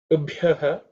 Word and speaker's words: ubhyah: In terms of pronunciation, ubhyaha, bhyo, ub, the sound ub is the fourth letter in the per varga, so it has to be aspirated.